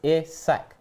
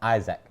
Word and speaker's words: Isak: for you robbie robbie i'm tired of you mispronouncing is sex name it's isak not isaac you have a duty as a host to